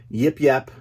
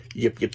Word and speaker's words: Yip Yip: course the Sesame Street Yip Yap yip yip I always say it wrong yip yip aliens it's a two pack